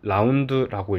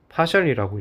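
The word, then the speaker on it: ∂: 자, 이렇게 생긴 친구를 우리는 라운드라고 읽고요. 또는 파셜이라고 읽어요. 그래서 얘를 읽게 되면은 파셜 f, 파셜 x 뭐 이런 식으로 라운드 f, 라운드 x 이런 식으로 읽는다고 해요.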